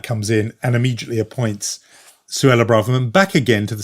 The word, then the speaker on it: Suella: back to Suella Braverman, Suella rhyming with Cruella.